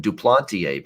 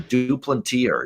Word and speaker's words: Duplantier: they look at it maybe it's like he's french or something duplantier but he's not it's american-born i mean it's it's not they don't pronounce those names that way in the states they're due plentier yeah uh i would